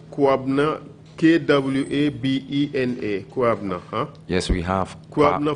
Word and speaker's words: Kwabena: Kwabna.